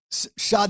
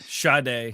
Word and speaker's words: Sade: Pink, Sade, is how you say that? Sade, yeah.